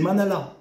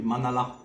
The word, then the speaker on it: manala: Eux, ils disent des manala. Et ils le prononcent bien, le A. Mandala. Des manala.